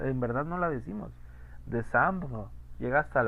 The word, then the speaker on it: décembre: décembre, décembre. Evidentemente la E no se pronuncia, pero queda un rastro chiquito de aire porque se corta la vocal que sigue, ¿no?